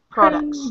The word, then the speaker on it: products: Products. Products. Yeah, something like that. American products. But yeah, it's products. And the other thing about this word is that the T is not really pronounced, right?